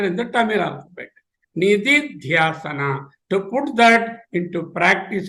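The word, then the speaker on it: निदिध्यासन: It is pronounced as Nididhyasana, Nididhyasana.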